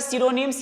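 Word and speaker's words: pseudonym: उसके बाद देखिएगा सिनोनिम्स। ये वर्ड है, इसकी शुरुआत पी से हुई है, बट यहाँ पर पी जो है वो साइलेंट है।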